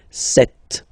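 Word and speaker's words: sept: Then here remember P is not pronounced. Okay? It doesn't exist. So you got this set sound set.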